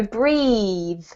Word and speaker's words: breathe: and this one is the vowel sound is an e sound so breathe breathe well done perfect